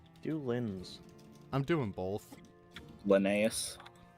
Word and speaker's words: Linnaeus: Linnaeus. Linnaeus. Yeah, because all Americans say Linz.